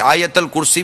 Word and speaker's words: آیت الکرسی: لکھا ہے ویسا کہیں۔ حمزہ پر مدہ ہے، یا پر زبر ہے، اور تا پر پیش ہے۔ آیت الکرسی، پھر کہہ